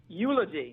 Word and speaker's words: Eulogy: Is Eulogy. Is that how you say it? Eulogy.